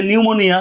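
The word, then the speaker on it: pneumonia: tsunami আবার এই যে নিউমোনিয়া নিউমোনিয়ার পি কিন্তু উচ্চারণ হয় না এইভাবে আমি সাজিয়েছি আপনাদেরকে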